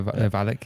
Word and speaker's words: Valek: Is that how you pronounce the surname? Valek? That is right, yeah. Valek, yeah.